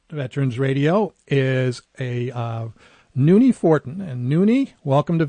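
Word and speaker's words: Nonie: But uh Nun is is uh you're military uh retired.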